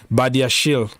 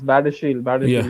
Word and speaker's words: Badiashile: B, if you can pronounce his name? Badiashile. Yeah, he's Badiashile.